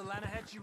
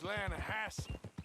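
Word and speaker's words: Lannahechee: Yeah, but it's pronounced Lanahassee. Why is everything in English said differently than it's written?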